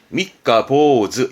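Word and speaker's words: 三日坊主: 그래서 발음은 미카보즈.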